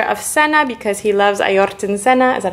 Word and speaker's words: Ayrton Senna: So Jules is painting him this picture of Senna because he loves Ayrton Senna. Is that how you say his name? Ayrton Senna, yeah. Ayrton Senna.